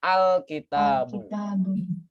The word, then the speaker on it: الكتاب: Kita bacanya gimana? Al-kitabu. Ya kan? Kalau seandainya letak kata al-kitabu di tengah, maka bunyi hamzatul wasalnya itu hilang, bunyinya hilang. Jadi misalkan minal kitabi atau dalikal kitabul di surat Al-Baqarah kita sering kan?